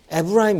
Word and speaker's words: 에브라임: 이스라엘 지금 얘기하는 거예요 근데 성경에서는 에브라임 이거 이게 히브리어 발음 이거든요 에브라임 이거를 잘 안